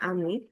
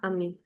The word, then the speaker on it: amie: While the pronunciation is the same of ami and amie, but the spellings will just we'll add an e to make it a female.